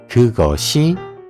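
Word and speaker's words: 그것이: Then, if these are attached to the subject marker, how we pronounce it?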